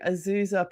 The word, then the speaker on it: Azusa: And yeah, you started your college career at Montana State before becoming a star at D2 Azusa Pacific. Did I pronounce that correctly?